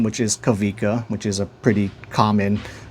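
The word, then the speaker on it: Kawika: his name which is Kavika which is a pretty common or popular Hawaiian name which is spelled Kavika K A W I K A or like W's are actually pronounced like V's in Hawaiian like there there is no V though.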